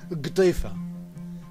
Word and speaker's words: قطيفة: وأخبرني السيد محمد عرناد أن هذه اللوحة، هذه الكنفة المعلقة، هي سجادة قطنية خفيفة يسمونها بمحافظة درعا اسمها قطيفة، تلفظ بالجيم المصرية، وهي تعلق على الحيطان،